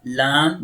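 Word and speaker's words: ل: Lam. This is lam. Lam. The makhraj of lam is tongue tip touches gum line, okay?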